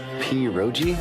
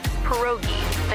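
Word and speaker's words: pierogi: Poi. Did I pronounce that right? It's pronounced perogi.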